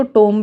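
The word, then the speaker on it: tomb: इसको टोम भी बोल देते हैं लोग, पर हाँ, टूम इज़ the correct pronunciation, and टोम बोल दोगे तो भी कोई डांटेगा नहीं आपको।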